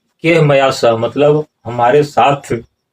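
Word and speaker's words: कैर्मया: और यहाँ पर नीचे बताते हैं केहमया सह, केरमया नहीं होगा, उच्चारण होगा केहमया।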